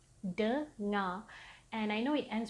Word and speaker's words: dengar: It's as if the R is silent.